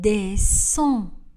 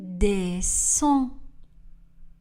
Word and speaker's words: descend: Il descend. Le D n'est pas prononcé à la fin du verbe. Il descend.